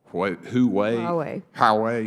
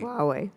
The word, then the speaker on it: Huawei: I believe it's pronounced Huawei. Huawei.